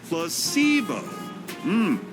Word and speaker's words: placebo: today repeat after me plus SEO the stress is on the middle Sy very good you're figing